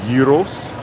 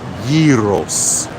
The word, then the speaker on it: gyros: Oh, there's Gyros stand. It's actually pronounced Gyros, not gyros. It's Greek. Gyros.